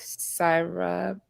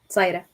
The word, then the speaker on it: Saida: Yes, I do agree with Syra. Pardon me if I said it wrong. Did I say it right? Saida. Sarah, Saida? Saida. Thank you.